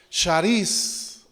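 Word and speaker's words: χάρις: La palabra gracia, hermanos, en el Nuevo Testamento es una palabra griega que se pronuncia charis, de la cual se desprenden muchas palabras, como es carisma, ¿sí?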